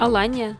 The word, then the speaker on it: Алания: Алания, как правильно говорить? Алания, да.